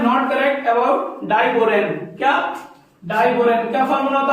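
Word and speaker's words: diborane: हम बोलते हैं उसको डाइबोरेन। क्या? डाइबोरेन। बहुत फर्क है इसमें। इसकी स्पेलिंग होती है BORON और इसकी होती है BORAN। डाइबोरेन पढ़ते हैं इसको पढ़ते हैं बोरॉन।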